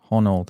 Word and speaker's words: Honnold: It's about a guy called Alex Honnold. I think that's how you pronounce his surname. Honnold. Not Ronald. He doesn't even know his name. Not Ronald, Honnold.